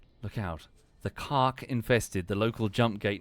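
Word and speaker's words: Kha'ak: series decided to make one of their principal antagonists the American word for cock. And all of the voice actors pronounce it that way. Look out. The cark infested the local jump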